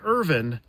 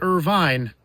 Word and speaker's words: Irvine: Say Irvin, not Irvine, and eventually join with me and take the Just Say Irvin Park Challenge.